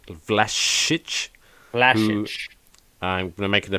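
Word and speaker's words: Vlašić: legit um and then nicola vlasic as we learned to pronounce flash flash i'm going to make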